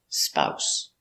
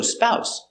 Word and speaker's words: spouse: very good spouse pronunciation this s is pronounced like an s s not a zebra not Z It's s s spouse so spouse a husband is a